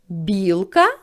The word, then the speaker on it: білка: цей склад буде наголошений наступне слово білка ділимо його на склади в слові білка два склади визначаємо який склад наголошений перепитаємо це слово білка або покличемо білка перший склад вимовляємо з більшою силою голосу значить цей склад наголошений сорочка ставимо кулачок і ділимо